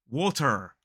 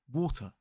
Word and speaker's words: water: So many people will say water. They'll really try and pronounce the R sound, but in British RP, it is a water.